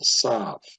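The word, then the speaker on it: ת: So Ashkenazic pronunciation, when the Tav has no negation, they will pronounce it as an S sound, Sav, and with the negation as Tav. But in Sephardic pronunciation, if the Tav has a dagesh or if there is no dagesh, in either case it is pronounced the same.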